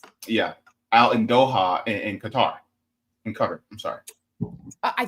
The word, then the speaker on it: Qatar: But yeah, I mean, I think it's Qatar. I would Qatar? say Qatar, or I would say Qatar. Yeah, I think it's like it's pronounced like Cutter.